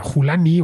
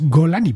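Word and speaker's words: al-Julani: golani estos últimos días No sabía muy bien cómo pronunciar ese nombre que se al jani al julani bien ya me enterado que es julani o como sea en árabe es golani porque él nació en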